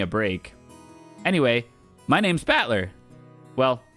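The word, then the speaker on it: Battler: fight and person and it's pronounced batler okay yeah that makes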